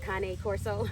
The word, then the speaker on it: Cane Corso: Pronounced Cane Corso. Yep, not Cane, y'all, not Cane.